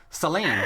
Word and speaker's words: Sélynne: until you wrote back is just Selena like Celine Dion right exactly exactly that's